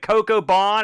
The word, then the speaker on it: CoCoBan: Do you pronounce it CoCoBan? Is that the way you pronounce it? That's how I've always said it.